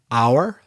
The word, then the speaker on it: hour: But then some H's are not pronounced, like una hora, hour. The H is not pronounced.